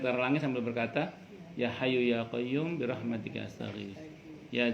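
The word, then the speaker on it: يا حي: Ya Hayyu ya Qayyum ya dzal jalali wal ikram. Kalau dulu orang tua kita belum bisa baca ya Hayyu ya Qayyumu, bacanya Yokayuku Yokayumu.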